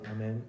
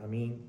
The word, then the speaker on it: amen: Now we will do dua which is silent prayer and at the end we will say amen or a mean with which we will end the prayer.